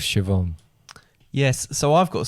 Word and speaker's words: Siobhan: and Siobhan, who I pronounced Siobhan, and it was Siobhan.